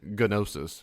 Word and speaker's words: gnosis: a alpha primitive for no and nosis that G is silent. So if you said gnosis which means no knowledge.